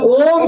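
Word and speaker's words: ॐ: भरते हैं और फिर ओम 3 शब्दों से बना है, आ, उ और म। उसी प्रकार से हमें उच्चारण करना चाहिए। पहले अ, ओ, फिर उ, फिर म।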